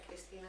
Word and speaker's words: Cristina: En países se pronuncia Cristina también, es fácil de entender.